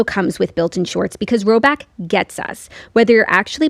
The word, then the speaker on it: Rhoback: The colors are unreal, the vibe is immaculate, and if you haven't peeped the new Rhoback yet, this is your sign.